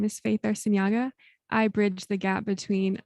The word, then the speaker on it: Arciniega: Now we have another individual here it's Faith Arciniega, right? As I said it right? Yes. Okay, Perfect. Arciniega.